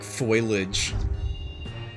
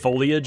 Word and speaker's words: foliage: But that's why I used to pronounce things like foilage. Oh, instead of foliage. Yeah. Yeah. Because like I I was reading before I like knew words. So I was like foil edge.